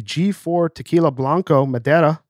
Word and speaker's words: Blanco Madera: First up is the G4 Tequila Blanco Madera. Am I pronouncing that correctly, by the way?